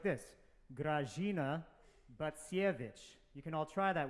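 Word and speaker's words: Grażyna Bacewicz: It's pronounced like this: Grażyna Bacsiewicz. You can all try that with me now. Grażyna Bacsiewicz.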